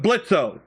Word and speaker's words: Blitzo: We named him Blitzo like from Hell of a Boss. We call him Blitz. Of course, the O is silent.